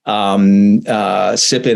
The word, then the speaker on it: Tippin: Like we brought Sonia Tippin, Sippin. It has a T, but it's pronounced Sippin.